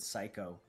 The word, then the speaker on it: psycho: Left shoulder zipper is saying, I realize there's both a silent P and H in the word psycho.